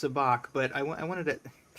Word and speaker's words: sabacc: Uh, I know it's pronounced sabach, but I I wanted to it's just kind